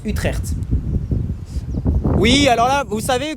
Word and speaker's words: Utrecht: voir le centreville d'Utrecht alors je crois que ça se prononce utreer oui alors là vous